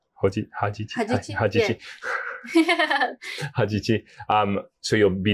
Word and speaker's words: Hajichi: Hajichi.